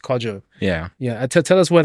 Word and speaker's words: Kwadzo: your name so I I kept pronouncing quadzo but it's actually pronounced quaj yeah yeah tell us